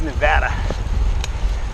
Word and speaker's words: Nevada: that's great data no one in their right mind pronounces the word Nevada here in Nevada its Nevada with the a sound yeah alright white is